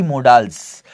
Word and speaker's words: modals: क्या होता है, यही मोडाल्स, जो कि मोडाल्स बोले जाते हैं जनरली, लेकिन इनको मोडाल्स गलत बोलना, मोडाल्स बोलना गलत है, इनका करेक्ट प्रोनाउंसिएशन है मॉडल्स, ठीक है।